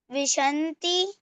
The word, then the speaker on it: विंशतिः: दश, विंशति, त्रिशत, विंशतिः। हाँ, वी के ऊपर देखिए टिम्ब है, विंशतिः।